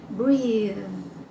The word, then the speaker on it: breathe: Breathe, breathe. Então ele tem um som de Z lá no final. É diferente do tooth, do breath.